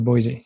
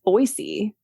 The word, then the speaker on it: Boise: pronounce the city because I was saying Boise and that's not how you say it's called it's boisey with like a soft s and not as oh